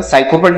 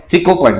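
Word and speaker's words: sycophant: आहे सिकोफंड याला काय याला कसं वाचायचं सायकोपणं म्हणायचं काय नाही सायकोची स्पेलिंग अशी असते ही आहे सिकोफंड सिकोफंड म्हणजे काय असते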